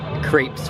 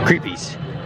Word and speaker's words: crepe: Get some crepes for dinner. Creepies. It's actually pronounced crepe.